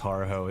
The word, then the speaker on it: Horoho: The last name is pronounced Horoho.